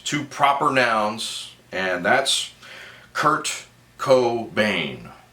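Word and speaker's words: Kurt Cobain: proper nouns and that's Kurt Co Bane that's right three syllables Kurt Co Baine um with creativity he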